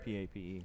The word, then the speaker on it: Pape: It is Pape. I just heard the the stadium announcer.